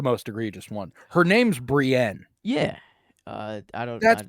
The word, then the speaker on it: Brienne: read it and go this name is Brien I guess maybe that's just English you know that's just technically you could like if you wanted to you could make it sound like that cuz it's spelled that way but no I mean like you obviously can I get where he's coming from but the name's Brienne yeah I mean the